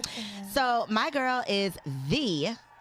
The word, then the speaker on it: Getaneh: Getaneh. Did I say it right? Yes. I had to spell it like how I was going to pronounce it, and I did it.